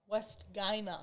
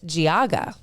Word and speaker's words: Geauga: West Guyana. Oh, West Guyana is what he said at the Big E. So I said, I'm going to phonetically spell Geauga. Smart. So he can just read it, Geauga.